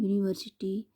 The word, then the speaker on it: university: tree note that in university the letter u is pronounced as u which begins with the consonant sound why so use here